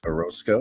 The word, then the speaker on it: Orosco: my friend here Chase Orosco am I pronouncing your last name right yes sir right on so uh